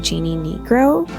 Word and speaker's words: Jeanne Nigro: It's spelled like Jeanne, but I'm pretty sure it's pronounced Jeannie Negro.